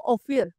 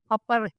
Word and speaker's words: Ophir: apr Actually ang pronunciation Hindi po of fear ang pronunciation po kung po- pronounce na nasa ancient is AP apare Yun po yung pronunciation kasi nga po pictogram